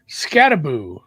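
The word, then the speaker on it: Skattebo: So, it's going to be more and more Scataboo, which I don't love that.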